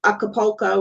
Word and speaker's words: Acapulco: Yeah, Acapulco.